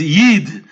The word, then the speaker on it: yud: Ukraine, whatever it was, the way they pronounce it is not Yud, they pronounce it as Yid, which also means Jew.